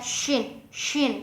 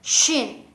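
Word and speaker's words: شين: Misalkan kita baca shin kan harusnya keluar udara ya, shin gitu. Terus kita harus berdesis gitu ya, shin. Nah, sedangkan kita misalkan melafadzkannya itu sin, beda ya, beda.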